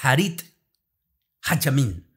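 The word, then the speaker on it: אחרית הימים: de la muerte en la lengua hebrea que se se pronuncia como harit hamin que viene la palabra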